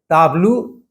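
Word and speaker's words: tableau: मूल भाषा में टी का उच्चारण ट नहीं होता है, त होता है, जबकि अंग्रेजी में उसका उच्चारण करते हुए ट हो जाता है।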